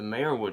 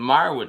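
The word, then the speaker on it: Meyerowitz: doing my spoiler free movie review of the mayor wood store uh i pronounced that wrong the meyerwood stories which was a 2017 netflix movie so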